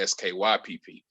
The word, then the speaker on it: Skypp: And it gets mispronounced a lot, which I don't know how, but it does. And it's okay. Skype pronounced that way? No, I got an E at the end of Skype.